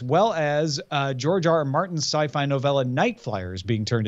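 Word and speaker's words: Syfy: or loved this series the sci-fi channel or sippy as some people pronounce it will change its logo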